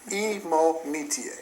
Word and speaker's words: Imonetia: And because I've heard it pronounced 5 different ways, right. He finally corrected me and, well, educated me. Imonetia. You got it.